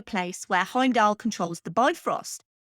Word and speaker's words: Bifrost: where heimdal controls the bifrost which in actual Norse mythology is pronounced be frost the look of Thor